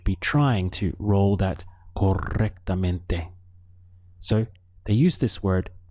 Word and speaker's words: correctamente: Now, in Spanish, they use this word correctly, so it would be correctamente. Notice we have a double R here, and so it's good to try to roll your R at that point.